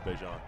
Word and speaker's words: Bejant: I thought I was pronouncing it wrong for the longest time when I was saying Bejant. They pronounce it Bazant on the live thing, but I believe he told me it was Bejant.